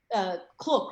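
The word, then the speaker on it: Klook: Sometimes I say K-Look or Cloak. How do you say it? Yeah. I pronounce it as a K-Look.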